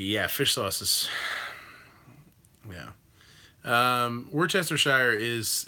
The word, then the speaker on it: Worcestershire: And if he's, I'm the only one here, and I'm going to pronounce it correctly, so it's Worcestershire. Worcestershire.